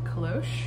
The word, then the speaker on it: cloche: thank susan for telling me how to um pronounce that kalosh that's the style of hat i've since listed